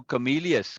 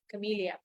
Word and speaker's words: Comelius: always read Camellia. Yeah, Comelius. Right. So second syllable again. Good, Comelius. Mama. Comelius. Okay, Yeah. yeah. And the IU is two syllables.